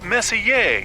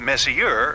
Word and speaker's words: Messier: stands for Messier pronounced Messier not Messier as in is your room messier than mine Charles miss here I